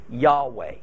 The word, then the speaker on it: Yahweh: name as Yahav a and not the more accepted Yahweh but what I just explained gives you the reason why there is disagreement over exactly how to pronounce God's formal name that has spelled you'd hey Bob hey do we focus it like yay ho yah and yahoshua Joshua and thus say the Lord's name is Jehovah or do we vocalize